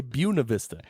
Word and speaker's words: Buena Vista: And you're out in Buena Vista, or some people say Buena Vista.